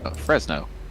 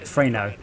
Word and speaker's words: Fresno: it a silence is it just for no fresno not freight freino we've got two pronunciations of the same state come on now